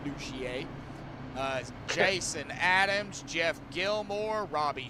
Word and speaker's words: Dosher: Zach Dosher, that is actually how you pronounce it, I do believe, but I call it Douchier.